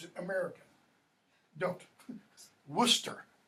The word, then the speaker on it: Worcester: Worcester is how that's pronounced.